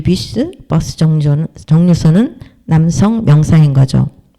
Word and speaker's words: bus: 뮤스, 부스가 아니고 버스도 아니고 뷔스라고 읽어야 된다. S도 발음한다.